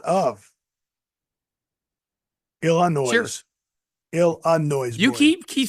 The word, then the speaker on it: Illinois: How do you say Illinois? Ill of noise. No, it's Illinois. No, it's ill of noise.